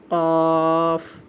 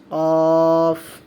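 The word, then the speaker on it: ق: এই ফায়ের সাথে যখন আমরা আরেকটি নোক্তা অ্যাড করে দিব তখন এটার নাম হয়ে যাবে কফ। কফ কফ কফ। সকলে আমার সাথে সাথে বলুন ফা। ফা ফা কফ কফ ফা কফ।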